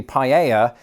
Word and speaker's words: paella: The way Americans pronounce the L's differently when they say paella is very much in line with how they do it in Spain.